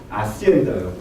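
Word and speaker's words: hacienda: 아시엔다요. 아시엔다가 스페인어는 H를 발음 안 합니다.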